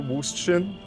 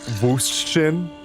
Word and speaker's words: Würstchen: Wiener Würstchen? No. Sorry. Würstchen? I pronounced the American W.